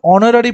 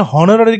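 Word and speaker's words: honorary: তারপরে কি আছে, অনারারি পোস্ট, এখানে হনারারি কিন্তু নয়, অনারারি, যেরকম আমরা বলে থাকি না honest, H ও এন ই এস টি, এখানে এইচটা সাইলেন্ট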